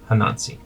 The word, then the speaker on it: Hanansi: how i'm pronouncing it hanansi yeah it's like anansi but with an h hanazi's children had been